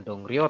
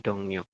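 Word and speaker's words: 동료: Nanti rnya dibaca n dibacanya adalah dongo Seti bukan dong Rio tapi dongo selanjutnya ini saya minta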